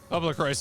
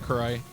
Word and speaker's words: Crois: It's funny too cuz even on like the Wikipedia article for the franchise, there is a pronunciation guide which explicitly says Christ and not cro the the the Okay, I remembered it again.